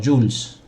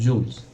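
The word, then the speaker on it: joule: soul joss en definitiva con una letra j esto se pronuncia como jules sin zonas jules entonces si trabajo homenaje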